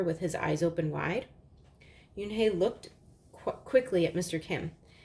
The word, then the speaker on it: Unhei: said to her with his eyes open wide Yoon hae looked quickly at mr. Kim then turned to Joey she nodded slowly yes it's pronounced Yoon hae and it means grace mr.